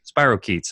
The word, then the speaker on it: spirochetes: a question on that so how do you pronounce it Spiros sheets or Spiro bark eats spirochetes okay thanks now where do these live are